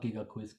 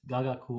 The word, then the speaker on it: gagaku: the gentleman actually mispronounces it's not giga quiz gagaku or ganaku uh in